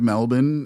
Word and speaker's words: Melbourne: Jade Melbourne is how you pronounce her name, but her name is spelled Melbourne, and she is Australian.